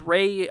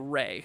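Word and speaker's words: Wray: Anything heading towards Ray, Colorado, says Crystal?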